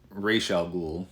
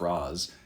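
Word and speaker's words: Ra's al Ghul: how cool would and i think it's a pronounced racial ghoul from the animated series i'm not going with the batman begins pronunciation of raz how cool would a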